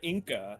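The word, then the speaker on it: Inka: and it was owned by de la zangara inca and he goes by zanger and he is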